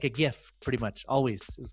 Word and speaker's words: GIF: I say GIF because the person that made GIFs named it GIF. So I say GIF.